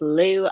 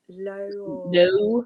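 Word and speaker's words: Lew: she has with lou i don't think it's pronounced like that but that's how it's like low low um it's double l e w um low yeah i'll say low that sounds more accurate than lou um so he obviously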